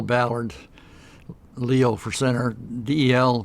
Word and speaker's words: Ballard: okay great so let's let's start off here first of all would you please pronounce and spell your name for us mil my full name is L Ballard Leo for centre de el BER t ba